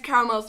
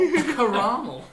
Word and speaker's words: Karamel: Also, everyone's been pronouncing my name wrong the entire session. Yes, that's your fault. Karamel. Yes, I told you everyone would pronounce it caramel, and you were like, no, it's a fancy name.